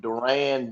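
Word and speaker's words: Duren: Is that how to pronounce his name? Duran. Duran.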